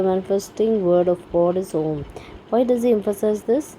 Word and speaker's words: Om: The first letter A is the root sound, the key, pronounced without touching any part of the tongue or palate. M represents the last sound in the series, being produced by the closed lip, and the U rolls from the very root to the end of the sounding board of the mouth.